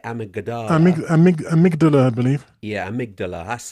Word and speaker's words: amygdala: Yeah, amygdala, that's how you pronounce it.